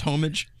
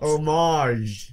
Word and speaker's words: homage: I've got a question I didn't realize it wasn't pronounced homage so out of C out of pure curiosity how is it actually pronounced omage omage ah okay oh